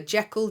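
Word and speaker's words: Jekyll: the Strange Case of Dr Jackal J I think it's pronounced actually uh Dr Jael and Mr Hyde uh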